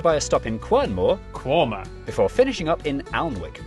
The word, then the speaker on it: Quernmore: Gotham Gotham followed by a stop in quernmore quma before finishing up in alwick anik which is